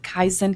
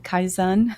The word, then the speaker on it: Kaizen: Japanese approach I don't even know how to pronounce it Kaizen Kaizen oh yeah yeah yeah kaen yeah yeah Ka